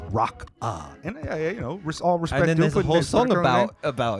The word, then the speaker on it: Rocca: the comments and said it's not Roka it's rock uh you know about